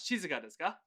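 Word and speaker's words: 静かですか: You said it right, just that you had a weird intonation. Shizuka is what you said. We want Shizuka desu ka?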